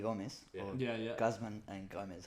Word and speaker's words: Guzman y Gomez: Guzman and Gomez, how you would pronounce it. Yeah. Is that how you say it? Guzman y Gomez.